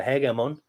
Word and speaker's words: hegemon: Because quite clearly, Alexander's Imperium is actually a military government, that the ruler of the government, the hegemon himself, or the hegemon, as it's properly pronounced, I'll get onto that with some pronunciation guides and stuff later.